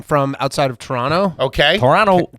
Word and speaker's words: Toronto: outside of Toronto okay Toronto Tarana Canada we say that's weird because we say Toronto but every here everyone says Toronto yeah there's no RT in it right for some reason we just stopped pronouncing it all right um I